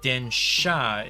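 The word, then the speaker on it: 電車: working on this Sakura densha now it's spelled densia on the um what's it called on the packaging and in the manual and everything but densha is the actual pronunciation in Japanese and then shot just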